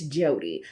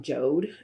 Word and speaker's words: Jode: me lace wig and it's jody i've heard a lot of people call it jode and i'm just like i have this thing about how people uh pronounce names of some of the wigs and it's always funny because i understand phonetics right you see j-o-d-e and you say joe'd but y'all it's a